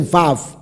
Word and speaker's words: vav: 是 v，而不是 u，乃是 vav。